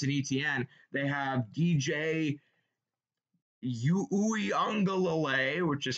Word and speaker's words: Uiagalelei: They have DJ Uiagalelei, which is how you say it.